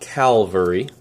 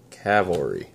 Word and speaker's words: cavalry: shatter and glade heart cavalry not calvary but cavalry just call me a